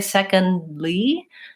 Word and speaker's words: secondly: that D sound second but when I say secondly instead of releasing the D second Li and